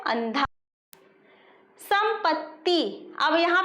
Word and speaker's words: संपत्ति: यहाँ पे ये देखिए, यहाँ पे ऐसी लाइन खींची हुई है, ठीक है, आधा त है, इसलिए हम इसका प्रोनाउंसिएशन करेंगे संपत्ति, और इसको क्या कहेंगे?